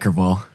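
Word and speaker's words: crevalle: I think uh one video you caught a huge Jack Jack uh crevali. Is that how you say it? Jack Kval.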